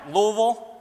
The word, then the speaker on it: Louisville: people here we go I said it right Louisville this kind of falls out of your mouth